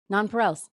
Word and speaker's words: nonpareils: That's what I looked up. Yeah, that's exactly how you say it. Nonpareils.